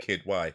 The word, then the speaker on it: Kidwai: Is that how it's spelled? Yeah. Just Kid. KIDWAI. Oh, awesome, Yep. cool. Kid Y.